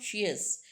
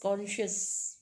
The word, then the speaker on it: conscious: That is common conscious actually it's not sheious it's just conscious right and in between